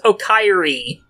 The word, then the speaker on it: Oka Eri: name is Oka Eri, whose name can be literally pronounced as Okairi. Welcome home!